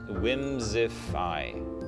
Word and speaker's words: Whimsi: what the lore says whimsi whimsify that's how it's pronounced but it's spelled w-h-i-m-s-i whimsify well well cool i